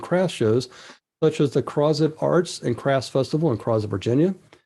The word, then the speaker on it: Crozet: And for those who may not have been there before, that the city name there for the show was Crozet. That's how they pronounce it, and that's about 14 miles from Charlottesville, where they have spring and fall shows, outdoor shows.